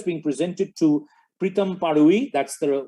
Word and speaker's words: Pritam Parui: This year it's being presented to Pritam Parui. That's the right pronunciation, though the spelling is a little different.